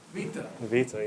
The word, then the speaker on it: beta: start with Alex um beta remember the pronunciation V Vita yeah there you go